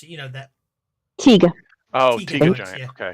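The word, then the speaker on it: Taiga: How do you pronounce it? You know that. Tiga.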